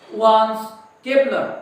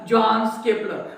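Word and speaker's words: Johannes Kepler: आणि हाच डाटा नंतर वान्स केपलर याने काय केला, स्टडी केला. या वान्स केपलर, त्याचं स्पेलिंग जरी जे पासून चालू झालं तरी त्याला म्हणताना वान्स अशा प्रकारचंच उच्चारण करायचं आता म्हणतात.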